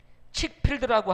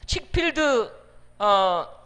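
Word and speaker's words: Chick-fil-A: 있는 치킨 샌드위치 전문점 칡 필드 영어로는 조금 다르게 이렇게 발음이 됩니다 이 칙필드 전문점의 회장은 덴케이시라고 하는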